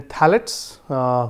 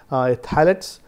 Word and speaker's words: phthalates: Then phthalates, here P is silent, phthalates and flame retardants.